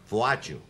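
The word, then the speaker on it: Władziu: And I was christened Polish for Walter, which no one could pronounce, called Wadju. That's Walter Wadju in Polish.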